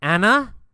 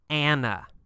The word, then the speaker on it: Anna: Or in America, we say Anna. Anna. A little bit different pronunciation.